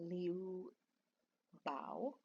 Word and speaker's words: Liu Bao: my tasting notes for this uh 1992 uh liu bao and um i hear it pronounced as li oo um but they the